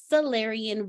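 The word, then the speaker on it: Sallerian: the solarian verse and you heard me say it right the celerian verse s-a-l-l-e-r-i-a-n verse all right I'm not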